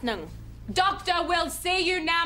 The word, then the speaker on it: Ng: Negg is next. Mr. Negg? Mr. Negg! How do you spell that? It's spelt N-G. Oh, it's Mr. Nung. It's pronounced Nung.